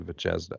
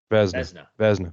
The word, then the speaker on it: Vezina: up enough, and the Vicenza, or I never say it right, the Vicenza. Vezina, Vicenza. That's it. That's a place in Italy. The Vezina.